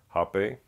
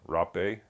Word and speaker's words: rapé: many different varieties of hop a or Rob Bay depending on who you talk to as far as how it's pronounced and each one has